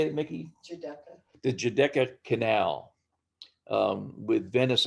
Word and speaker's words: Giudecca: Giudecca.